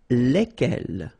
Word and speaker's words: lesquels: And it will give you the pronunciation lesquels. All right, so final S is not pronounced.